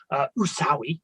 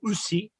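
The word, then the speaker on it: Usui: by sensei or master usawi or usi depending how you want to say his name um it's sowing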